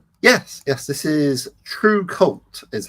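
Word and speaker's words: TRVCVLT: Yes, this is true cult is how I would pronounce it, but it's spelled T R V C V L T and that's Roman style.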